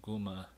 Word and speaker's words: guma: originally a an old english word for man guma so breed for bride and gooma for man breed guma became bride groom what